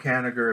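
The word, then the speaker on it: Kanigher: about what happened to him but yeah Robert Canada that's how you say his name said that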